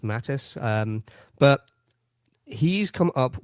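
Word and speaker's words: Mathijs: like um Mattis newick it's spelled m a t h i JS yeah I think it's just pronounced Mattis um but he's come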